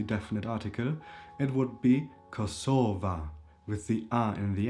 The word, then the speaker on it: Kosova: A is the feminine definite article in the nomin nominative case in this case and it would become kosovva and then the pen ultimate syllable is stressed. Kosova.